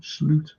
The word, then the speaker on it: Slot: of slots coaching SL that's how you pronounce his name slute because of [ __